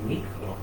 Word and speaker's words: Negro: You go out to Croatia now, they've got biscuits called Nikro.